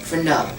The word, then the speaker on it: Verneau: Yeah, it's Verneau. E-A-U. In French, it's pronounced like Oh, a O. like a O. Like O.